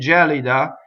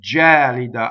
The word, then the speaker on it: gelida: that kid jolly da it's not kid jolly de but kid jolly da I get stuck on